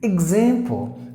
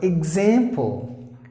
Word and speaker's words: example: like E or E example and then this this X is like G Z this particular X letter gives two sons G Z so example example is American example